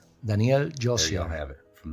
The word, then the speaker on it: Josier: The correct pronunciation is Josier. Daniel Josier.